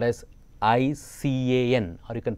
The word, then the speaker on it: ICAN: given to a campaign which is called as ICAN, or you can pronounce it as ICAN, which stands for International Campaign to Abolish Nuclear Weapons.